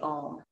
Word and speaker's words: Om: we end with the ohm and the sound um it's often spelled om but it's actually the pronunciation like phonically spelled would be a u m so it's ah and